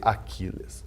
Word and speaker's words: Achiles: que é o @AquilesJúnior, se escreve Achilles, mas se lê Aquiles, ok?